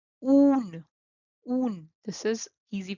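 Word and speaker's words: ऊन: In Hindi, it is called oon. Oon. This is easy pronunciation and is n.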